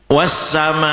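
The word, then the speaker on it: والسماء: Bacaannya panjang 5 harokat, berarti 5 hitungan. Wassamai. Kalau bacanya pelan ya agak pelan, kalau cepat ya mestinya cepat ya. Biasanya kan kita agak pelan. Wassamai. Nah itu. Ini dibaca panjang karena ada mat bertemu hamzah dalam satu kalimah.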